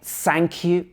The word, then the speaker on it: thank you: learners first of all we have this f sound so a lot of people will say thank you thank you or thank you something like that but it should be thank you so when you say this word your tongue should be uh just behind your upper teeth or in between your upper and lower teeth like here thank you or it